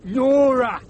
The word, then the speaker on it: Nora: Nora, the captain of this team. Nora, what rhymes with aura.